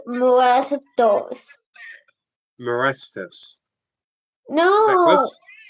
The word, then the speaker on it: muertos: You're saying it wrong. It's muertos. So say the whole thing again. Muertos. Morestos? No, muertos.